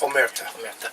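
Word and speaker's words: Omertà: Is that how it's pronounced? Omerta.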